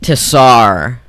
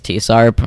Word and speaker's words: TSARP: know some people just some people don't know how you're supposed to to pronounce tsarp it's it's tsarp if you listen to